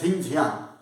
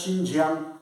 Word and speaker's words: Xinjiang: called xinjiang territory actually they are writing about spelling with x so we can read it at zinjian but they pronounce as xinjiang territory then this is